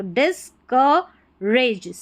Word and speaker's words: discouraged: discouraged, ठीक है, discouraged, यहाँ पर जो discouraged है, इसमें OU है, इसको अ करके प्रोनाउंस करें, तो discouraged, COURAGED, raised, discouraged, because